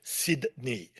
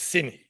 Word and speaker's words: Sydney: Local pronunciation, nobody says Toronto. Nobody goes to Toronto. In the same way, nobody goes to Sydney. It's Sydney. So what do we know about Sydney?